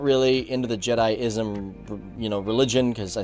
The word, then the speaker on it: Jediism: wait a minute, Leroy, you're pronouncing Jedism or Jediism as Jedism. It's pronounced Jediism.